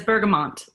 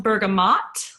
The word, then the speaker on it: bergamot: who in here says bergamont it is pronounced bergamot and like the French if you listen to